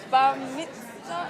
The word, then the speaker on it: bar mitzvah: I've learned that it's the bar mitzvah.